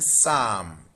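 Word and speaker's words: psalm: Then Sam in Sam the P is silent.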